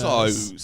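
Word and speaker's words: Kers: Yeah, it's a gift and a curse, but the curse is spelled A It's K-E-R-S, K-E-R-S. So curse.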